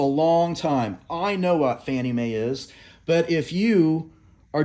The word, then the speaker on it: Fannie Mae: Association stands for FNMA we pronounce FNMA Fannie Mae that's the nickname we